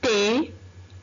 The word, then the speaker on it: thé: Thé. Thé. On n'entend rien. La lettre H. Est-ce qu'on entend ici la lettre H? Non. On n'entend rien. Alors, T. T. La lettre H ici ne se prononce pas.